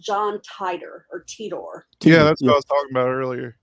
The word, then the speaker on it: Titor: I always said it was Titter. Is it not Titter? Titor. Yeah. George Noriar always pronounced it John Teeter. Teeter. Okay, Teeter.